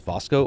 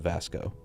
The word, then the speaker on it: Vasco: so in the game I've heard different characters address vosco is vosco or Vasco I've heard it both ways uh Todd Howard pronounced it vosco but I also think I've heard other people from Bethesda pronounce it Vasco I don't think Andreia